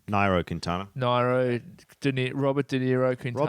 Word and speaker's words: Nairo: Britain, second TJ Van Garderen, and in third Niro Quintana. Quintana. I keep getting that wrong. Nairo Quintana.